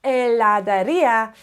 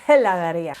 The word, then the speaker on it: heladería: Like an ice cream shop is una heladería, it's not una heladería.